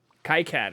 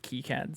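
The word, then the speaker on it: KiCad: was like the predecessor Kad is the one that I heard about or like kead some people pronounce it that way like k i a if you're into PCB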